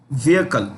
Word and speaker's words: vehicle: Okay, let's make it unmanned combat aerial vehicles vehicle. See, this H is silent in vehicle, so it's pronounced vehicle.